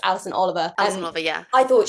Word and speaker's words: Alison Oliver: I think she was, I said her name wrong, didn't I? It's Alison Oliver.